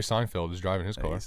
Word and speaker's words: Seinfeld: James Gordon and Jerry Steinfeld I never said that well you just pronounce them James Gordon and Steinfeld I say Steinfeld you say Jerry Seinfeld was driving his course